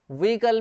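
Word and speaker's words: vehicle: वैसे ही आप इसको देखिए व्हीकल, व्हीकल में एच साइलेंट है, व्हीकल, व्हीकल एच साइलेंट है, व्हीकल नहीं बोलते इसको, व्हीकल, where is your व्हीकल, व्हीकल, व्हीकल, ठीक है, वाहन।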